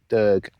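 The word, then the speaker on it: Dearg: D-E-A-R-G, Derg. Carn Gerard, or Carn Grig, as it's pronounced on Walk Highlands.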